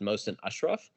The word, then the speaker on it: Mohsen Ashraf: It's pronounced Mohsen Ashraf, but I feel like you rolled with it fairly well.